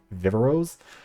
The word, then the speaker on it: Viveros: Anyways, Viveros was the young men tribe, and I picked up the name because of how Jeff Probst pronounces it, which is Viveros.